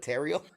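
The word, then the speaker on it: Teryl: back with the name how would you pronounce the name t y l t t t teral teral it's like Ariel but terel it's Johnson it's Jim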